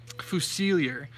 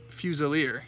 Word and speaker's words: Fusiliers: it wrong I was I'm a dumb American so I was saying fusilli err but it's actually fuse earlier which is like a type of soldier so this is my